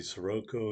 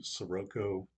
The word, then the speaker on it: Siroco: and bad things about the sirocco or siraco which i think is probably actually how you pronounce it if you watch